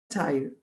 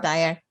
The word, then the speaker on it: Saltire: En el 2018, Carolina fue premiada como editora del año por la Sociedad Shire de Escocia. No sé si pronuncié bien cómo Perfecto, se llama esa perfecto. sociedad Sí, escocesa. Saltire.